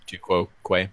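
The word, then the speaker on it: tu quoque: Yeah, appeal to hypocrisy is the same as tu quo quo.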